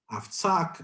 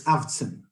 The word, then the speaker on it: Avtzin: moved to this country, I've heard this 50,000 different pronunciations to my name. Avtzak, Avtzin, Avtzan, etc. It's Avtzin, 0 vowels, Avtzin. Now, we're walking down the street and oh, so that Avtzan gave a speech and